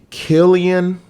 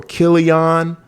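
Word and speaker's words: Cillian: mispronounce his name but I think is Killian or kilon I'm I'mma say I'mma say Killian well kilon will y'all correct me in the comments so for right now I say Killian um Killian Murphy before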